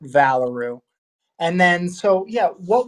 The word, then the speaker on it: Valoroo: yeah the name is valaru so just kind of like just how you say kangaroo but valaroo and then so yeah